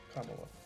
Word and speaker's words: Kamala: In a just world, Joe Biden would be in a nursing home and Kamala Harris would be on OnlyFans.